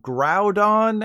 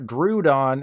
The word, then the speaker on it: Groudon: But just in case you've lived your entire life believing the TV show, they are officially called Groudon and Kyogre, not Groudon and Kyogre.